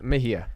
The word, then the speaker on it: Mejia: 34 he's a green Party candidate it's Kenneth Mahia I pronounced that correct right correct Kenneth Mahia Kenneth Mahia now Kenneth you uh you look